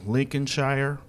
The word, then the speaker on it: Lincolnshire: getting the wonderful opportunity to hang out in Lincoln Shire I say it right yes lsh yeah Lincolnshire